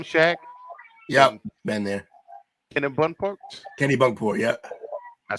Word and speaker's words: Kennebunkport: Kennebunkport.